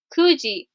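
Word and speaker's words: 九時: Kuji. Now, if you remember from that chart, 9 is Q, but you can't say Q with time. It's kuji, kuji, kuji.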